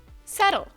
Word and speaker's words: subtle: the correct answer is settle subtle means not obvious but important pay attention to the pronunciation don't pronounce the b it's not subtle it's